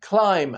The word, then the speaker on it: climb: The B in bomb, climb, and lamb.